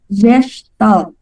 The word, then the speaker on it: gestalt: let's go with the word gestalt so again that is how it it is being pronounced because it is a german word that means structure and